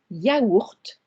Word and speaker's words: yaourt: However, for the word yaourt, I do sound the T at the end. It's an exception there.